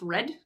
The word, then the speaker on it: rod: One is rod, R-O-D, it's spelled R-O-D, but it's pronounced red.